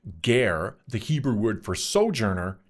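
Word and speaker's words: גר: But the gar, pronounced gar, the Hebrew word for sojourer, is not today's illegal immigrant.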